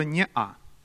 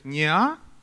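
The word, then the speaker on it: не-а: есть некоторые произносит как neo но можно сказать и не а и в принципе это ну как то правильнее считается вот в этом слове не а перед а стоит картонная смычка она у нас на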